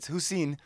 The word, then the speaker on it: Hussain: How do you pronounce it? It's Hussain.